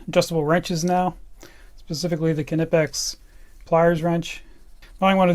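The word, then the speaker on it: Knipex: saying that name wrong kinetics is the way that the Germans say it so I'm never gonna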